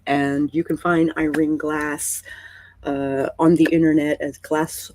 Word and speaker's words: Glasse: There's an E on the end of it. We do not pronounce it, but it's like a lot of Gaelic names.